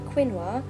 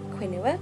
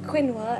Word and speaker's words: quinoa: reference, if you are going to be trying quinoa, do not pronounce it quinoa, because the people in Tesco's will look at you like you're an idiot. But lesson learnt. So quinoa, everybody.